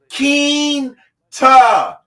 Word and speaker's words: Quinta: It is La Quinta, pronounced Quinta.